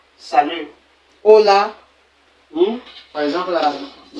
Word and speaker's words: hola: Hola, bien qu'il y ait le H. Ici là, ahora.